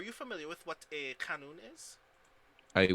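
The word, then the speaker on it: qanun: familiar with what a canon is a what a canon it's spelled q-a-n-u-n as as far as wikipedia tells me uh yes yes yes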